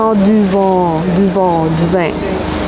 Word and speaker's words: vent: ça, du vent ?» Mais non, pas du vin, du vent, le vent. Donc, les voyelles nasales sont plus nasales au Québec et au Canada.